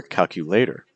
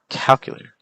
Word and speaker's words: calculator: If you would say these as elevator or calculator or appetizer, that's not necessarily the most natural pronunciation for these compared to elevator. See the stress on L, elevator, or calculator. See the stress on calculator, or appetizer, appetizer. So you don't want to